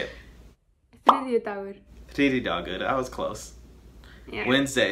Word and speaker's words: Þriðjudagur: Þriðjudagur.